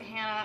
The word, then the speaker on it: Hana: No, my name's actually Hana. Please just... Yes, I pronounce it Hannah.